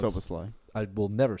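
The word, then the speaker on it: Szoboszlai: and the Hungarian whose name I'm going to mispronounce. Soboslai. I will never say that correctly. Soboslai.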